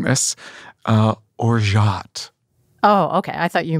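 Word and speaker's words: orgeat: syrup it looks like you would say it orgy at the pronunciation that is correct is think of zsa gabor okay as you're saying this uh or jot oh okay i thought you meant you wanted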